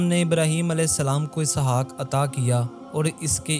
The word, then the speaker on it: اسحاق: آپ کا اسم گرامی اسحاق تھا جو اصل تلفظ کے اعتبار سے یسحق ہے۔ یہ عبرانی لفظ ہے